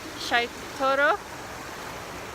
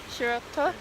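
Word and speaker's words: Shiraito: So we've come to the, how do you pronounce it? Shaitoro Falls. Pardon? Shirato.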